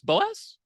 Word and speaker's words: Boas: But we're here today with Bernadette Boas. Boas? Yep. 2 syllables? Okay. Bernadette Boas.